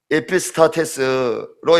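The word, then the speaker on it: ἐπιστάτης: 선생님은요, 헬라어 원어로 에피스타테스로 이렇게 발음되는데 이 말의 또 다른 뜻은 두목, 장관 이렇게 표현되는 것입니다.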